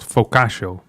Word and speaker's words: Focaccia: It's called Focaccia.